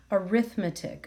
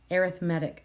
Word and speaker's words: arithmetic: the word sequence here it's pronounced slightly different even though the spelling is the same so it kind of is pronounced like err arithmetic sequence so just wanted